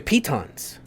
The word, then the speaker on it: pitons: We'll use your pitons. That's how you pronounce them, by the way.